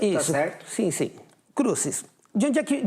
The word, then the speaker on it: Crucis: É assim que se pronuncia, isso, tá certo? Sim. Crucis.